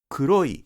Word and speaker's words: 黒い: Kuroi is shown like this. The number 2 indicates that the pitch drops on i.